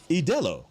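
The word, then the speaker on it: Ídolo: Idolo. Like Modelo? Yes. Not Idolo.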